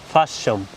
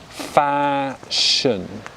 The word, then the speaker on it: fashion: pronounce the normal japanese fashion good so in receipt pronunciation we pronounce it as fashion so the second syllable we're unstressing it with the schwa sounds sh good and this